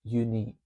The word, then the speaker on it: U-Neac: As you can see in the background there, it's spelled U- N E S, but it's pronounced unique.